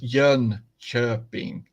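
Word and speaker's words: Jönköping: Yun sharping sharping sharping that uh is a little bit like the the i in third if you think about how you pronounce the IR in third so it's Yun chirping you're chirping and I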